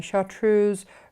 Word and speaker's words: chartreuse: completely the wrong way chartreuse rhymes with hers not moose i remember the moose